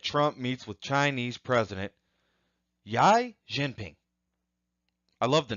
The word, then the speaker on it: Xi Jinping: President Trump meets with Chinese President Xi Jinping.